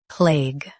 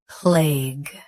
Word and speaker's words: plague: Plague. Plague. Say play smoothly, then finish with G. Keep the A clear and the ending crisp.